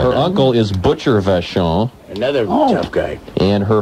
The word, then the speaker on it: Vachon: Yeah, it's the Vachon family. We're the first family of professional wrestling. Don't insult me by saying it wrong. It's Vachon Molds.